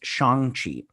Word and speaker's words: Shang-Chi: But they released an article in Entertainment Weekly or whatnot, and they said it's Shang-Chi.